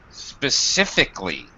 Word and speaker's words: specifically: Yeah, we drop this syllable here. We just plain don't pronounce this. Okay, we just drop it. It's basically omitted.